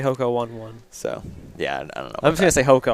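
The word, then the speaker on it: Hoka One One: that's what it is that's pronounced hoko on on yeah and so team boss is officially a train I'm still going to say hoko one one so yeah I don't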